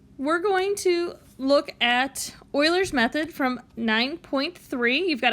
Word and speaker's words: Euler: to talk uh today about uh what's called euler's method not euler's method i know i can see how it's spelled it is pronounced euler so get yourself